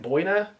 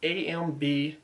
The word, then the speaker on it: Amboyna: These are Starry Night and Boyna wood scales. I probably pronounced that wrong, but it's AMBOYNA wood scales.